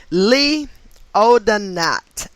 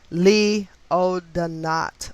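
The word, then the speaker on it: Lee O'Denat: of christ as well as debbie reynolds wow lee oh the knot and that is spelt well lee l-e-e his last name o apostrophe then capital d-e-n-a-t lee oh the knot or o-d-net anyway he um was born november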